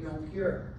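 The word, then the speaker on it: Jonker: had a different word spelled j o n k e r with a soft J he was a young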